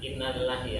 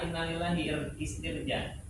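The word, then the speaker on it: إنا لله: misal ya inillah Nah Innalillahi yang paling gampang inillah sering nih kita ngucapinnya salah inalillahitir ya harus kan Inna lillahi ya Inna lillahi Sesungguhnya kami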